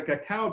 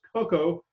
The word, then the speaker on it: cacao: 1504, Columbus brought the cacao bean to Spain. The term cacao, mispronounced as cocoa, is the Xochitl potent drink.